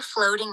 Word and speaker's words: floating: 1, Some boats are floating in the water. Some boats are floating in the water. 네, some boats are floating in the water. are floating이 아니라 floating이라고 t가 약하게 발음되는 게 미국 영어의 특징이잖아요.